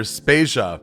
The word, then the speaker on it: Spasia: Vader and I'm spasia we're brought to you by Anonymous dinosaur and rhymes with Asia it's time to appreciate